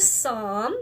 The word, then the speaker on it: Psalm: in the book of Psalm remember that P is silent this book of the